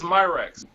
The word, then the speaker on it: Myracks: Hey Justin, am I pronouncing your last name right? Yes, Myracks. Myracks, okay, word.